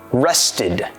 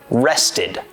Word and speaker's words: rested: the example Rest r-e-s-t because rest ends in a t when we add ed we use our third pronunciation Rested Rested I rested all afternoon